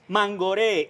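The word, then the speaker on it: Mangoré: let's see what man Gordon manghori yes gaudi accent on the e with an accent on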